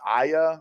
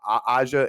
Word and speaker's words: Aja: It might be pronounced Aya or Aja, AJA.